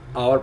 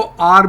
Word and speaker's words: our: सो जुमला क्या बनेगा, शल वी शो आवर पावर, ठीक है ना, शल वी शो आवर पावर, क्या हम अपनी ताकत दिखाएंगे। अच्छा, आवर को आर भी पढ़ते हैं जनरली इंग्लिश में, हम जब प्रोनाउंस करेंगे